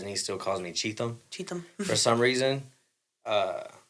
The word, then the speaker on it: Cheatham: Cheatham.